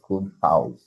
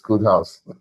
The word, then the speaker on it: KodeHauz: So it's pronounced KodeHauz, right? Because a lot of people have called KodeHauz and everything. Please, it's KodeHauz.